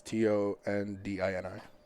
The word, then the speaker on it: Tondini: His last name is spelled with an O. It's Tondini.